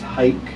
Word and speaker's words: Hayk: And it's pronounced hike, like take a hike.